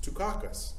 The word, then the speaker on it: Tychicus: so it's pronounced the exactly the same way as michael dukakis's name who's a politician it's tucakus that's how you say